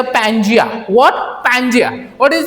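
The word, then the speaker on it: Pangea: this हां I just name it एज अ पजिया what पैंजिया what is the spelling पैंजिया see here P ए एन जी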